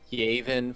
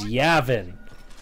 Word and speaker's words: Yavin: called a prophet dum-dum-dum-dum Aven for you can't argue my pronunciation yes I can yes I can't they are not correct though so many times in star wars they have pronounced it as Yavin Kashyyyk these things have